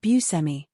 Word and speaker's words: Buscemi: Growing up we said bmi which I can't even do that anymore. Steve continued to explain that he often pronounces his surname like Buu and Semi. He then joked, "I sort of take a little bit from each pronunciation.